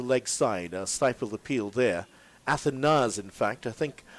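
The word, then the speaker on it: Athanaze: Athanas, in fact, I think one of the reasons why there's that confusion for the pronunciation, there was another player who would have played for Antigua some years ago. He's now in his 30s. That's Justin Athanes. His name was pronounced Athanes, but this young man is Alec Athanas.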